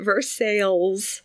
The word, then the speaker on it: Versailles: reminds me of the versailles in indiana our friend erica told us about yeah but they pronounce it verse sales first oh yeah right